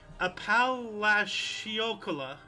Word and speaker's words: Apalachicola: Can't pronounce it. Apalachicola.